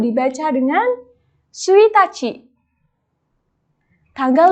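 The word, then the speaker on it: ついたち: Nah, cara pengucapannya seperti ini ya, minasang. Tanggal 1 dibaca dengan suitachi.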